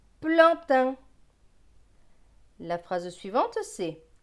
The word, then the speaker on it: plantain: PL c'est pleu avec le AN. AN c'est en. Pleu et en. Plan. T avec AIN. AIN c'est un. T et un. Teint. Donc ce mot va se lire plan, teint, plantain.